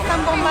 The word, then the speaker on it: zambomba: Si tú puso a alguien decir zambomba, no está ni una zambomba de jerezana ni de Jerez de Puracé. Es zambomba, que suene un poco contradictorio, pero se pronuncia así.